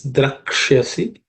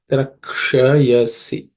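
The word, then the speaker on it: Drakshyasi: The next one is Drakshasi. The Uksha is cerebral sh, so the tip of the tongue should point up. Drakshayasi.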